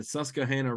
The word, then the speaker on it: Susquehanna: to Pennsylvania in the susah Hanah River I don't want to pronounce the Q too much we'll have to get